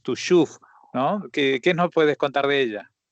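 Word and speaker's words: Tuchów: Bueno, hoy vamos a hablar de una ciudad, una pequeñísima localidad polaca llamada en Yiddish o pronunciada en Yiddish Tushuf, ¿no?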